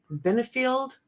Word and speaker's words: Benefield: Arguments for the Ashley Benfield Benfield I guess is how it's pronounced uh the Black Swan